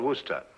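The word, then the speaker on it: Worcester: else too doc but it's spelled w o r c e s t e r where sister oh yes I see yes Lord Worster mhm his M be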